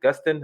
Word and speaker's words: Gustin: Obviously the main character, Grant Gustav, is it Gustin? Is that how you pronounce his last name?